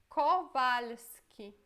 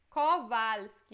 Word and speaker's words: Kowalski: O próximo sobrenome é Kowalski. Kowalski. Este já é um pouquinho mais difícil porque temos várias consoantes juntas, né? LSK. Mas também acho que é de boa. Kowalski. Kowalski.